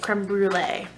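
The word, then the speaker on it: Crème Brûlée: That's how you say it, Creme Brulee.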